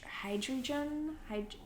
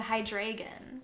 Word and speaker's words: Hydreigon: son and a young adult with a hide hydrogen hydrogen yes hydrogen like hydrogen like you mean a Pokemon hydreigon hydreigon thank you it's a hydreigon bhai drink on how do you say hydrogen